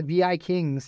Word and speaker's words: Vikings: I like is the vi Kings they're somewhere in Denmark or something but it's spelled Vikings but it's VI Kings oh that's kind that